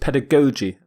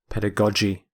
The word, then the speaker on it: pedagogy: some people pronounce it pedagogi both are correct according to my dictionary pedagogi pedagogi but the G's are pronounced differently the first G is hard G the second G is soft J pedagogy the prefix ped means